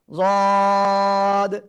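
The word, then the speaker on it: ضاد: জিহ্বার গোড়ার কিনারা উপরে মাড়ির দাঁতের গোড়ার সাথে লাগিয়ে, জিহ্বার গোড়ার কিনারা উপরে মাড়ির দাঁতের গোড়ার সাথে লাগিয়ে তিন আলিফ টানিয়া যদ উচ্চারণ হবে। ঠিক আছে? যদ।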